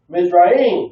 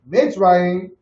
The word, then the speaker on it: Mitzrayim: And the sons of Ham, Cush, Mizraim. Wait, Mitzrayim.